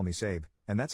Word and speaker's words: Sabe: To cut right to the chase, I legally changed my name to Sabe, pronounced like Abe, but with an S.